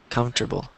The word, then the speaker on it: comfortable: wrote comfortable comfortable comfortable so you you just say com and table comfortable comfortable Comfort I'm yeah